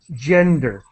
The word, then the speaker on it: gender: I I just wanted to help with your pronunciation of J. Gender. It's the J gender based discrimination and violence.